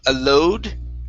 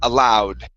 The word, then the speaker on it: aloud: nice next is the word allowed instead of a load it's an ow sound aloud okay very good uh